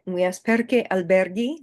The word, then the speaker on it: alberghi: All right, and we ask perché alberghi, non albergi. So albergo, alberghi. So the reason we have this H in there is to maintain the sound. Go here, gi here. So we want to maintain that hard G sound, g, g, g.